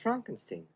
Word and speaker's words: Frankenstein: Brooks with Young Frankenstein it's pronounced Frankenstein another black and white